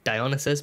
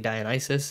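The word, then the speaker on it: Dionysus: names like like like I thought it was di dionysis but it's actually dionis and I think um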